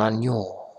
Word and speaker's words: agneau: Par exemple, ici, on dit la brebis et son agneau. Agneau. Ça s'écrit de cette façon.